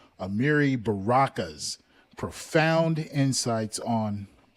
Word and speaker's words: Amiri: Now, now that we have a pretty firm grasp of what pie versus Ferguson is, let's turn to Amari. Sorry, I think I pronounced that wrong. Amiri Baraka's profound insights on how this case reshaped the musical landscape of New Orleans.